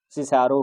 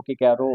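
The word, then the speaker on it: Cicero: Chips ने क्या बताया कि मेल्ड्रम ने भी यही कहा था और वेदरबाई ने भी यही कहा था, तो मैं इसको सिसारो, किकैरो और वेसिसिज्म, ऐसे सिसारो ही पढ़ाऊंगा और वेसिसिज्म।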